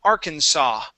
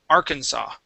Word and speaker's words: Arkansas: it's actually pronounced uh arkansas okay so the s at the end is not pronounced okay this is a state in the united states okay it is arkansas arkansas okay one more